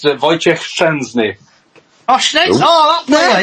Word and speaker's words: Wojciech Szczęsny: Well, obviously he's former Arsenal keeper, but it's pronounced Wojciech Szczęsny.